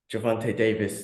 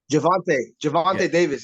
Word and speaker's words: Gervonta Davis: Ryan Garcia versus Gervonta Davis. Did I say his name right? Yeah. Gervonta Davis, yeah.